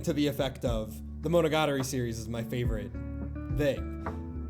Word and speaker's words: Monogatari: He called it monogatari like the atari.